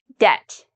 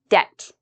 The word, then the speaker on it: debt: b in the pronunciation debt you shouldn't hear the B I did not pronounce the b because when you have B and right after T usually you don't pronounce the b there are always exceptions